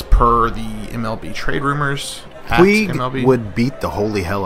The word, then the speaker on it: Puig: Puig, is that how you pronounce it? Puig? It's Puig. Thank you.